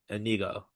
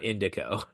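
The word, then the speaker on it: Inigo: Well, it's it's spelled I N I No, it's spelled I N I O Anigo, not Indico.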